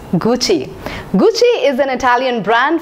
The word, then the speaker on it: Gucci: in the list is Gucci yes Gucci I've heard many people pronouncing it as Gucci Gucci it's Gucci Gucci is an Italian